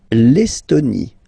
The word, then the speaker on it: Estonie: L'Estonie, final not pronounced.